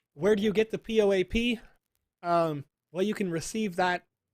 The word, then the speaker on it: POAP: Moto Brigade said Poap is how you say it.